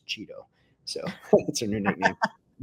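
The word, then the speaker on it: Cheatle: on one American News how do you pronounce her name and she said it's Cheeto so that's her new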